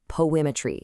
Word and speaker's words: PoAItry: Now, the source for this whole explainer is titled Poimmetry. And yep, just so we're all on the same page, you pronounce that just like the word poetry.